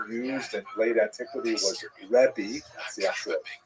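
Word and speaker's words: רבי: Um and uh in Israel the the term used in late antiquity was rebi that's the actual pronunciation which means my greatness my uh largeness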